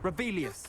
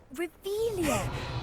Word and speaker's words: Revelio: You're Rebellious. saying it wrong. Ugh, Revelia. Much better.